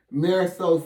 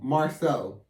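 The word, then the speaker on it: Marsau: but gosh that woman marisol scott i said that wrong marceau that's how you say it marcel scott that that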